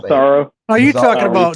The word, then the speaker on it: Massaro: How do you pronounce that last name? Massaro.